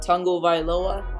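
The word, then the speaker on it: Tagovailoa: I can say his last name now Tua Tango vioa is how you pronounce it Tu tangoa is going to have a field day I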